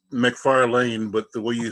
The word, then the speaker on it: McFarlane: mcfarley it's how you said you muted how do I see you last name he's still miss it's a it's McFarland but the way you